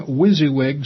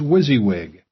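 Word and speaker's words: WYSIWYG: as easy as as possible I'll be using wizzywig software and wizzywig of course stands for what you see is what you get for example Microsoft Word is wizzywig what appears in front of you is generally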